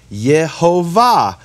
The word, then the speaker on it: Yehovah: Le'olam has the same vowels as Yehovah, which are the vowels Shvach Olam Kamatz. And this is what it looks like in English. Le'olam, Yehovah.